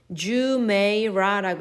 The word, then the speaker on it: Jumeirah: Palm Jumeirah. Jumeirah라고 읽어요.